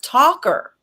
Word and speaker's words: Talker: It's Talker, like Talker, like she doesn't shut up.